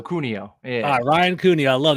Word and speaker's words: Cuneo: joined with Brian Sunil is that how you pronounce your last name uh hard C so cunio yeah Ryan Cooney I